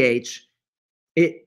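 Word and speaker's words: חי: h and with the little dot underneath the h it pr it's pronounced hi and it means life some people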